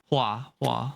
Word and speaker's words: Hua: Hua. Yeah. Yeah. That's what it was. Yeah. It's just it's pronounced the same way as you would pronounce flower in Mandarin.